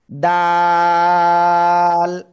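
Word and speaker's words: دال: এই অক্ষরটার নাম কি জিবার আগে উপরে দুই দাঁতের গোড়ায় লাগাবেন লাগিয়ে উচ্চারণ করতে হবে দাল দাল ঠিক আছে দাল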